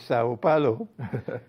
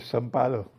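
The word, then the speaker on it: São Paulo: It's interesting that you pronounce it as Sao Palo because they don't do that in Brazil. They call it Salo. Yes. Salo.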